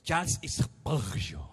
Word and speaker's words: Charles Spurgeon: Bem, é assim a pronúncia. Charles Spurgeon.